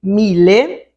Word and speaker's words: Mille: falando de um mil Miller só de mil ele vai ser escrito e pronunciado dessa forma com é no final Mille ponto basta mas